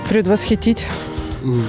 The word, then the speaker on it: предвосхитить: Ну, наверное, предвосхитить. Или предвосхитить? Нет, через «и», на первую «и» ударение. Предвосхитить.